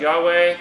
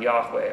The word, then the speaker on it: Yahweh: lord slash jehovah slash yahweh you know yahweh's the modern pronunciation of the name of the lord old school would be jehovah our bible is usually